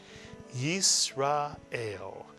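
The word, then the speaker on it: ישראל: by one letter, and the entire first syllable would be read as yis, mitsuyan, yis. The second syllable, ra, mitsuyan. And the third syllable, el, mitsuyan. Put the 3-syllable word together and you get Yisrael, mitsuyan, Yisrael, mitsuyan.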